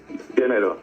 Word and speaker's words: Llenero: ¿Cómo se pronuncia? Llenero, sí. Llenero.